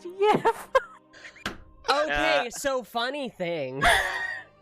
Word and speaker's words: gif: My boyfriend just said it's not pronounced GIF, it's pronounced YIF. Okay, so funny thing. GIF is an old English word, and it is pronounced yif.